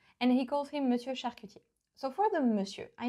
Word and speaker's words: charcutier: He doesn't really say charcutier, but charcuter. That's how we know that, yeah, he's not French.